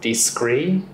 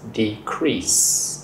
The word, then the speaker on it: decrease: But you pronounce it as decree, but it's decrease.